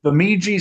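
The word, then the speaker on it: Bemidji: And it is actually three players, two of which went to um the Jimmy State. I think that's how you pronounce that if I screwed it up. State. It's Biji State.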